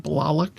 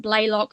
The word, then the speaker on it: Blalock: pronounced it Marilyn Blalock on the segment, so I went with that. So, okay.